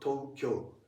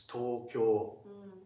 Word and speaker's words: Tokyo: So just for English speakers, just try to pronounce O as just O. Just O. Not O. Not Tokyo. It's Tokyo. Tokyo.